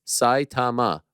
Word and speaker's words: Saitama: Rinya is from my hometown, Saitama, pronounced Saitama with emphasis on Sai.